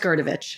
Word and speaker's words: Grdovic: that's her last name which just it's just gerovich sort of pronouncing it some right on this you're doing